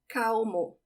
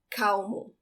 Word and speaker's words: calmo: The trick to pronounce the L when it's the last letter of a syllable as it is here, or the last letter of a word like in carnaval, the trick is not to roll it. For this word, calmo, it sounds like the W in English in